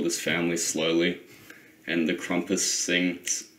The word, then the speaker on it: Krampus: james pronounces the krampus it's krampus um it just sounds cool a krampus so it's like trumpet like how's that cool